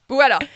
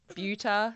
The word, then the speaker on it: Bueta: Bueta. Yes. Yes. What ones have you had? What pronunciations? Oh, I think, Bueta is pretty popular, or Bueta, or Bueta, or anything goes really, honestly.